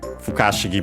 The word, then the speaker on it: Fukashigi: Fukashigi, by the way, accented on the ka, so be careful.